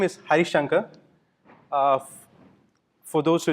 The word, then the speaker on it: Harisankar: talk of the day so my name is hi shankha for those who it's hard for you guys to pronounce it's I'm also known as Harris because